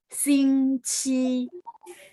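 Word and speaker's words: 星期: 星期， Nah, ci-nya itu dia ada angin ya, bacanya kayak CH. Jadi, 星期.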